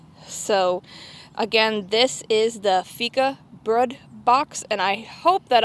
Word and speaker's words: Fikabröd: They have a way to help you pronounce it on their website, and the later part of it is pronounced BRUHD.